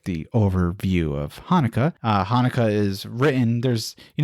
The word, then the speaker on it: Hanukkah: translations of the word some start with the word with ch as we just kind of talked about as you would pronounce it in hebrew which is hanukkah others prefer to angelicalize